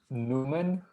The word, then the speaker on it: Noumane: how to pronounce it it's pronounced newman think about a newman but for french people okay so like newman just like the guy on seinfeld as far as pronunciation